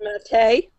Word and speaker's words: Mattei: Edward Mattei. Edward, what? It's spelled like Matt for the for framing, Matte.